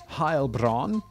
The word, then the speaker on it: Heilbronn: episode's called defendant of harbron i'm assuming harbron is somewhere in germany because i looked up the pronunciation and he said german heilbronn um so i guess